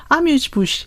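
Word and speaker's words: amuse-bouche: 예, 그래서 네이버에서 아뮤즈 부쉬 이렇게 한번 쳐보시면 프랑스어 발음이 나옵니다. 아뮤즈 부쉬 이런 발음이 나오는데, 네.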